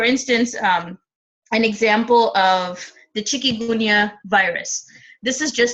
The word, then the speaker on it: Chikungunya: In Chikungunya, I'm probably pronouncing it right. This is how we pronounce it in India. Chikungunya virus, which is spread by mosquitoes.